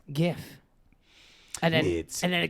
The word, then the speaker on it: GIF: no really oh there there's people that say JF and I'm like it's not I like that's not how it's pronounced okay it's pronounced GIF and then and then it gets a complex